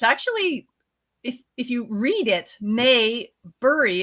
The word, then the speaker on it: Maybury: It's actually, if you read it, Maybury is actually pronounced exactly the way it is spelled, but people get confused with that Opie and Andy show, I think in the 1960s.